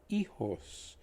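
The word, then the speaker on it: hijos: is children children are ejos as you notice the h is silent as you know and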